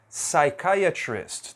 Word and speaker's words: psychiatrist: parecida né é o psychiatrist psychiatrist também não pronunci o p e aqui eu